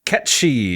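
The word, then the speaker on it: Cait: Ki or something yeah Ki is how you say that name but uh they're going Kate Sith like okay they had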